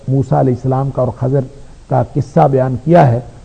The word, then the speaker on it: خضر: موسیٰ علیہ السلام اور خضر علیہ السلام کے قصے کا تھا۔ خضر جس کا درست تلفظ خضر ہے عربی کے اعتبار سے، ہم اردو میں اس کو خضر کہہ دیتے ہیں، تو خضر اور موسیٰ